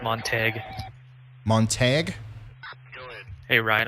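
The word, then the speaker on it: Montague: Hey, Ryan, I'm being told it's pronounced Montag. Montag? Hey, Ryan, I'm being told it's pronounced Montag.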